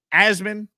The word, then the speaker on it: Asman: week my name is asman pronounced asmin as in jasmine appreciate all of you